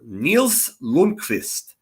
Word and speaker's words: Nils Lundqvist: Nils Lundqvist ceiling, or Nils Lundqvist, as the proper pronunciation would be.